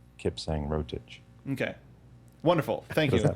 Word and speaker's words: Kipsang Rotich: And Kipsang Rotich, you pronounce that Kipsang Rotich.